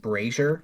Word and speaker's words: brazier: that's abrasure okay and it's pronounced Brazier Brazier yes b-r-a-z-i-e-r good to know every